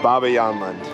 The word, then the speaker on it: Bobbejaanland: the front entrance of Baba yland yes that is how you say it it took me a while to figure that out I didn't know how